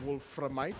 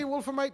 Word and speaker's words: Wolframite: against wolf remind and i have been told to pronounce the r in wolframite so i'm gonna have to take that extra few seconds milliseconds to actually do that because the way i usually say wolframite the way i see wolfermite usually i don't pronounce vr but you know it is